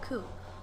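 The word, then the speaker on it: 九: The number 9 and the word pain is also share the pronunciation of ku.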